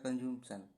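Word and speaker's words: consumption: Drinking water, drinking water fit from human for human कंज्यूमेशन या कंज्यूमशन, कंज्यूमशन, ये P silent होता है इसमें।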